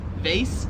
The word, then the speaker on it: vase: So the way we say it, it rhymes with like face, like your face, vase, face, whereas here it is vase, as in like phase, like it doesn't phase me. Phase, vase, face, vase, phase, vase.